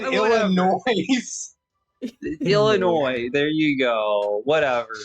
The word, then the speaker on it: Illinois: Why did you pronounce that like the Sufjan Stevens album? What do you mean? You Well, said whatever. Illinois.